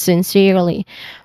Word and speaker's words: sincerely: Pronunciation wise, you start with sin with it has a short e sound, sin, and then sir, yeah, sin sir. Their second syllable is sir. There's also a short e sound here. Sincerely, sincerely, sincerely, sincerely. And then Lee with a short E sound also. So sincerely.